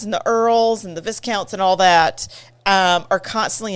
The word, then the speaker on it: Viscount: There's an S. I know, but the S is silent.